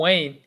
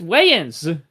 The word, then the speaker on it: Wayans: Wayne. It's Wayans. All right. Like John Wayne. No, that's John Wayne because his name is written Wayne, but there's Wayans, the Wayans brothers.